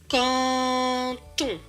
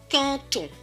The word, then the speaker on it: canton: et on tond donc ce mot ci se prononce canton canton on va refaire cette phase plus rapidement donc